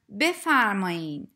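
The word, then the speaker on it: بفرمایید: need to know that the written form is bethar made but you usually hear native speakers pronounce it as befarmain you can use this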